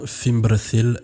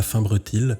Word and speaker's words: Fimbrethil: J'ai une petite parenthèse, je dis bien Fimbrethil et pas Finbrethil parce que j'ai décidé de prononcer comme il fallait, autant que faire se